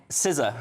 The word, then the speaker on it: SZA: They've got Dua Lipa, and then they've got how do you say SZA? SZA. SZA. That's how you pronounce it.